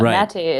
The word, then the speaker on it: Maté: excellent and perfect which I love it uh matate is also an a a sounding a hey